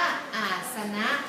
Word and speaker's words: อาสนะ: เขน เป็น นะ คะ สะกด ด้วย ส เสือ น หนู สระ อะ นะ คะ อ่าน ว่า อาสนะ แปล ว่า ที่ นั่ง